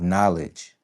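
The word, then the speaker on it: Knxwledge: So, it's it it's spelled knowledge, but you substitute the O for a X.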